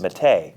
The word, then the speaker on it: Mete: methi sfx mate jeff it's mate really you really want to challenge that that really i mean go to the website that's what it says it's what it says or how it's pronounced mate it parentheses mete we'll go ahead and